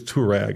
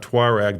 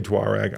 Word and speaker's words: Touareg: There are a lot of people in the brand who don't, but it is Touareg. It's not Tuareg. The British say Tuareg.